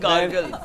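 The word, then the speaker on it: gargles: गॉगल्स नहीं, गार्गल्स।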